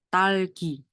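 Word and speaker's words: 딸기: Ini kan double D, jadi bacanya T. T, A, terus ada tambahan L, berarti bacanya tal. Terus ini G, ini I. Talgi.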